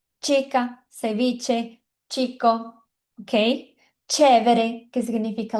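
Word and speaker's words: ceviche: Tem esse som de X, mas no espanhol a gente fala tch. Então a gente diz tica sev. Então toda vez que você vê o c e o h, lembra de t igual de tchau. Sabe quando a gente fala tchau, é igualzinho esse som de t.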